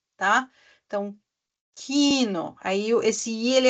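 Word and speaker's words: Kino: ela de forma longa por exemplo a palavra Quino tá Quino k i n o Então veja que depois do I da vogal I vem o n que é uma consoante e depois de novo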